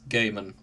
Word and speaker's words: Gaiman: terry pratich terry presche oh yes apparently it's gaiman and talking of gaiman the fan ships for